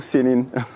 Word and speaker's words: CNIN: Faut-il dire kn ou Sénine ? Euh Sénine. Sén. Oui, c'est le centre national d'investigation numérique. Super, on est on est fixé sur la prononciation de de l'acronyme.